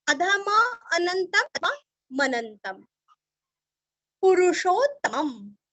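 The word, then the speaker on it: पुरुषोत्तमम्: पुरुषोत्तमम, पूरस्व षटकार का श, पुरुषोत्तमम, दो त का उच्चारण भी अच्छे से करना है और लास्ट में आधम, पुरुषोत्तमम।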